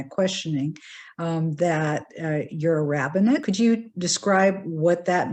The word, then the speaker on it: rabbinate: by my my questioning um that you're a rabbinate could you describe what that means and why you're that as opposed to a rabbi yeah so um so rabbanite is the correct uh rabbinid is the rabbinate right where the rabbis are oh sorry yeah